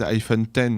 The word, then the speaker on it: iPhone X: En fait, le problème de cet iPhone 8, je pense qu'ils l'ont appelé comme ça pour éviter, vu qu'ils prononcent à l'anglaise iPhone 10, donc iPhone 10 pour les 10 ans de l'iPhone.